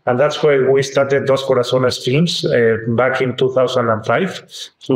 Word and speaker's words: Dos Corazones: I would say you're an experienced producer of big blockbuster Christian movies with your company, Dos Corazones.